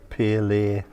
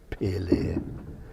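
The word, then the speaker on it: Pillay: Pele, phonetically P-I-L-L-A-Y. Pele.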